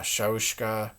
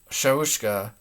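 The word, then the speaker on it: Shaushka: Um, but for right now, um, Shahushka, I I I believe that's how you pronounce it. It could be Shashka or, um, I I say both. I mean, I I I usually say sha shahushka. Shahushka, but it could be also just shashka.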